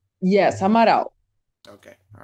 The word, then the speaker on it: Amaral: Is it the right pronunciation? Amaral. Yes, Amaral.